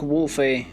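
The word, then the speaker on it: Wulfe: set made by Amaruk Wolfe last year. I think it's just Amaruk Wolf, but the name is spelled W-U-L-F-E.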